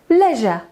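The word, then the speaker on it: leisure: dla relaksu dla fanu Uwaga to będziemy to czytać jak leżę Co robisz leżę uwaliłem się jak zwierzę i leżę prosta wymowa prosta leżę i pachnę leżę No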